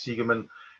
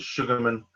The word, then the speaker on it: Segerman: but everybody, my surname's Segerman. People used to mispronounce it as Sugarman.